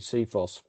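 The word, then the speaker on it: CFIHOS: specific Handover specification and we like to pronounce it seos and our purpose is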